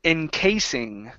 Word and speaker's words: encasing: we have the word encasing okay long a sound instead of encing encasing encasing okay and let's see